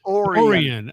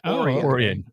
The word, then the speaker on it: Orion: Lake Oran. Oran Lake Oran. It looks like Orion. It's pronounced Oran here in Yeah.